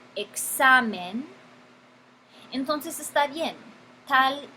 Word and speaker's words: examen: Y tiene el énfasis sobre la penúltima sílaba, examen.